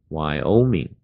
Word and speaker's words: Wyoming: 别注意，前面第一个字母不念，那 W 没有声音，光念 Y 的声音就好了。Wyoming，在下面就